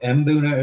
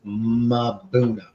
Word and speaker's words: Mbuna: She doesn't say Mbuna. No, Mbuna, so Mbuna is wrong. How I say it is wrong. It's Mabuna.